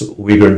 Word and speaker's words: Uyghur: Am I pronouncing that? Uyghur dance group. Uyghur, yes, Uyghur dance.